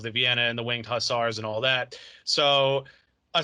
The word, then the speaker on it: Hussars: Hussars.